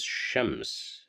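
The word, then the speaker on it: شمس: If you remember, shams means sun. So we have the letter sheen at the beginning, and so we will pronounce it as shams. So shams.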